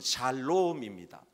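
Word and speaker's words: שָׁלוֹם: 히브리식, 구약식의 발음은 샬롬입니다.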